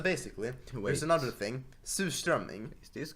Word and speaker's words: surströmming: Okay, so as I was saying, surströmming, Sorstriming. or surströmming. Sour. It's pronounced surströmming, but anyway, people are stupid and think that Swedes actually enjoy it.